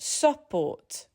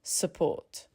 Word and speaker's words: support: support Not support, but support.